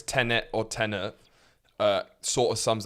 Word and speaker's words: Tenet: We preceded the recording of this podcast with me giving Horatio about a 3-minute lesson on how to pronounce Tenet. Because he's been saying tenant. So Tenet, which is a made-up name.